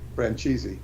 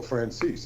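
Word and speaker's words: Franzese: mob boss Michael Frances you should pronounce his name Fran cheesy they call him Michael Frances that's what he calls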